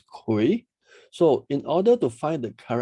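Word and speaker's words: 癸: So this symbol itself is pronounced as Kui.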